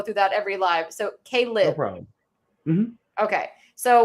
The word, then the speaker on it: Caleb: I said collab. It's Caleb.